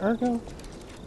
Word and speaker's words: Ergo: down girl they give a little bit more Ergo is it Ergo now I got to know yeah there we